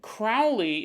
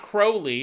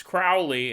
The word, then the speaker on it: Crowley: he goes, if you haven't recorded the episode yet, Crowley is pronounced like cow with an R. That might be the most confusing way. Crowley, it's not Crowley, it's Crowley.